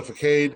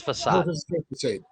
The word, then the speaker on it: facade: on the on the cade of the house it's facade it's not it's facade it's for c sounds like an s um yeah according